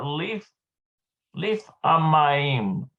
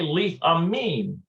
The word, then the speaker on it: לפעמים: Look at this here, leaf amayim, leaf amayim, leaf amayim. Yeah, sometimes. לפעמים. It's actually leaf amim. לפעמים. Not mayim, it's leaf amim.